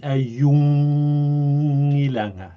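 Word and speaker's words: ajunngilanga: Ayungilanga. Ayungilanga. Ayungilanga. Let me Yeah, hear again. Ayungilanga. Yeah, much better. Do exaggerate the high tone. Ayungilanga. And make sure not to round your vowels to an O sound.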